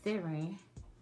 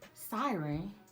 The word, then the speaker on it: Ciaran: am too okay so the name of this wig can be pronounced a couple of different ways so me and my mama been calling her seren i asked siri and she said siren and what she had